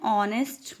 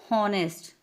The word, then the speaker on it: honest: H silent है. Silent means हमें एच की साउंड नहीं आ रही कि हावर, हॉनेस्ट, नो. यहाँ पे हमें साउंड आ रही है आर, ओ, यानी आर, आ, ऑनेस्ट, ओ.